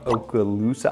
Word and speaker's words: Okaloosa: condos also are on Okaloosa Island that's how you pronounce that Okaloosa Island that's where everybody